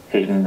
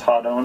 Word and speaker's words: Hadon: hero's name hon a lot of people say Hayden or hen or different different pronunciations but but Phil actually worked out the